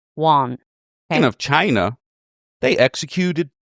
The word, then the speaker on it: Wone: w o n e, Wone. So, some podcasts pronounce it as Wone, but in Chinese, it's pronounced Wahn.